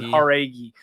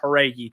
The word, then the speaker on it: Jauregui: Someone is okay, Uncle Wheezy saving us here in the chat saying Jauregui. So it's more with an H, Jauregui.